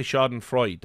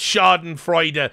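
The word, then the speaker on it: Schadenfreude: pretty sure is pronounced Sharden freuder I hear a lot of people say shardan Freud but I think you pronounced the E right uh that's how I've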